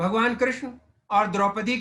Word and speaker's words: कृष्ण: कृष्णा हमने आगे किस सारी पीढ़ी में कृष्ण को कृष्णा कर दिया है कि इस पर विचार नहीं हुआ श्री कृष्ण हमारे जीवन का उच्चारण होना चाहिए तो इसको गर्म है